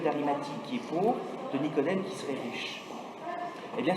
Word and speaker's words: Nicodème: qui sont Nicodème, d'un côté, comme ça se prononce, Nicodème, et Joseph d'Arimathie, A-R-I-M-A-T-H-I-E, toujours selon les évangiles.